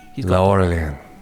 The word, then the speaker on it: Laurelian: Laurelian. Laurelian. You need to roll it out at the bottom and loosen up the palate.